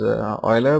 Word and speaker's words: Euler: I did not understand why it's spelled, why it's pronounced as Euler, but yeah, I heard many people pronouncing it like that, so I'm also pronouncing it the same way.